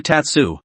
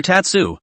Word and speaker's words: Tatsuo: shaho Rin immediately rebelled brother Tatsu no it's father tatsuo I just said it wrong your best skill is